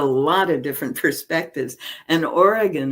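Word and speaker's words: Origen: of different perspectives and Oregon is one of them origin if you want to pronounce it that way was one of those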